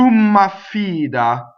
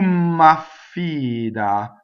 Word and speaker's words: m'affida: So tu m'affida. So notice there's a double M and there's a double F. Tu m'affida and a single D, right?